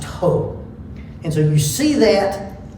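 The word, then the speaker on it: ὁ: of the definite article it looks like the letter O and it has a rough breathing symbol and it's pronounced ho and so you see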